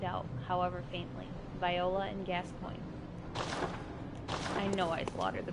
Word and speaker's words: Gascoigne: however faintly viola and Gascoigne I know I slaughtered the pronunciation on every I have no idea people have said it's Gascon yes anyways there is